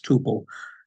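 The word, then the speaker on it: tuple: Another name for a record you'll see is uh and I see this word pronounced sometimes temple and sometimes tubal. I'll tend to say tubal.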